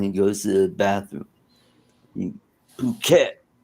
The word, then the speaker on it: Phuket: pronounced it all right it's pronounced puket okay okay that's what happens to cruel cat when he goes to the bathroom. Phuket.